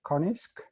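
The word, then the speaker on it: QA-NIZK: called quasi-adaptive non-interactive zero knowledge or as i pronounce it konisk in the case konisk is essentially a kind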